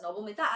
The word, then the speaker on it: Nabamita: So bachos, my name is Nabamita. As you all can see, Nabamita Ma'am. Yes, Nabamita, since I'm a Bengali, so you pronounce it as Nabamita.